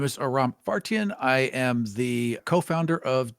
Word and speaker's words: Vartian: So Aram Vartian. Vartian. Okay. My apologies. Everyone looks at it and thinks Vartian like Martian with a V.